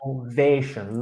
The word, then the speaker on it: innovation: Innovation, long A. Innovation. Perfect. The third syllable is that long A sound.